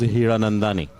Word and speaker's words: Hiranandani: How do you pronounce it? Hola, amigos. So my last name goes Hiranandani. Hiranandani.